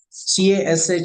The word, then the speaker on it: cache: Cash is a place to hide something. That's called a cache. C A S H C H E pronounced as cash.